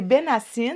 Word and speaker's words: Benhacine: C'est Benassine. On ne Benassine. prononce pas le H quand on le prononce en français. OK. Mais, si jamais tu veux le prononcer en arabe, OK. c'est Benhassin.